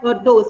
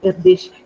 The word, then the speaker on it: Erdős: asked us, Erdős, Paul Erdős, even though it's named as ERDOS, it is pronounced as Erdős according to my knowledge. So Paul Erdős asked us to imagine